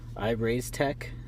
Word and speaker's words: IREIZTEC: talk about this is I've raised tech is how you pronounce this this is a dual